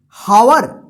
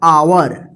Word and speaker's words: hour: HOUR, इसको क्या पढ़ेंगे? हावर। गलत हो जाएगा, हावर, ये गलत होगा क्योंकि यहां पे एच जो है ना साइलेंट रहेगा, इसका उच्चारण होगा आवर।